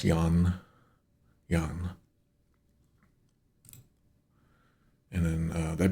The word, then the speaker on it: Yang: Like, if we were to write this out, it would be pronounced Yan.